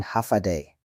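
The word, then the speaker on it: Håfa Adai: Hofa Adai, diucapkan Hafadai.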